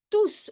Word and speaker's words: tous: And then tous, why do I pronounce the S at the end of tous, although very often you do not pronounce the last letter in French?